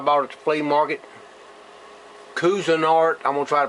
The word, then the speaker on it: Cuisinart: iron pot I bought at the flea market Cuisinart I'm gonna try to pronounce that right Cuisinart c-u-i-s-i-n-a-r-t thought that part